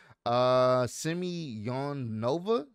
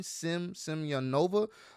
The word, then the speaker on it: Semyonova: Semyonova, that's how you pronounce her name, Semyonova, who also specializes in